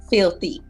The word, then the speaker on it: Filthe: So what I did was drop the Y and added the E so it could still sound like filthy.